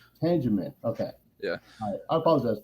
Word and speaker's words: Tangeman: people either pronounce it tan German or you know right it's like yeah yeah it's like they add an unnecessary R into it for some reason I don't know right